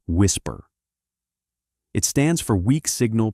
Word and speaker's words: WSPR: A technology called WSPR, pronounced WHISPER.